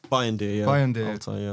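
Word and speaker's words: Bayındır: Bayandir, yeah.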